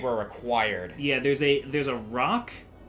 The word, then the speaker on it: roc: And I think the pronunciation for that is roke. Yeah, I always go back and forth with it. We talked about this during Donkey Kong Jungle Beat. Yeah, we did. And I don't know if we ever came to a consensus. I don't think we ever did. I've always pronounced it as roke.